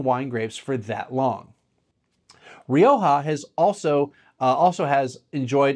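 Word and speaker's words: Rioja: to Roha and and a lot of people say rioa like there I'm I'm I'm not pronouncing it purely like a Spaniard would so just so if someone's like complaining that I'm flipping between different pronunciations you know I say Roha but Roha like they usually emphasize that that the J as that H sound anyway what brought significant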